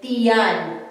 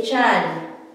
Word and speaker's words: tiyan: We can say tiyan or we can contract it. We say chan. It would sound like, so it would be like this, T-Y-A-N, chan, but then we don't spell it like this. We always spell it with the I. So stomach is tiyan or chan when you say it.